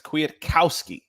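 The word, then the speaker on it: Kwiatkowski: like kennedy um that it actually has a pronunciation guide there and it's quietkowski and uh yeah i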